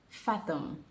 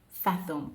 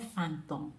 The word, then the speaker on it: fathom: before this video ends fathom there is no end in fathom it is not Phantom please don't say Phantom it is fathom I cannot fathom what